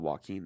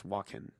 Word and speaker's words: Walken: No, not Joaquin. It's Walken.